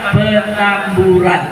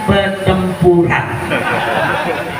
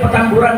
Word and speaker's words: Petamburan: Sebab ada jenderal salah baca. Dia bacanya pertempuran. Akhirnya apa terjadi? Dia kerahkan pasukan, dia turunkan pancer, bawa senjata. Rumah saya di Petamburan, di tepung, dia pikir Petempuran.